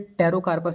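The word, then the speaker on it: Pterocarpus: यहाँ पे पी जो है साइलेंट है, टेरोकार्पस इसको हम बोलते हैं, जो कि शॉर्ट में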